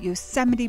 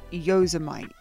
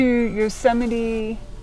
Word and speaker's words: Yosemite: today we visit yosemite park which i accidentally called yozamite now let's see how